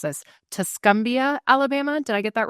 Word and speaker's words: Tuscumbia: Ryan is the parts manager at Hyundai of the Shoals in, and forgive me, I'm going to mispronounce this, Tuscumbia, Alabama.